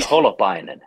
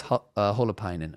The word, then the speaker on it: Holopainen: say it and then there's the way you would say it like more in finnish and i'm always like well should i try to give like the finnish accent which could sound funny or do i kind of say it you know more like american but then it's like then it's butchered you know so